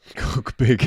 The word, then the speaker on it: Kugbig: is spelt H-E-R, and my surname is spelt Kugbig. Cook big.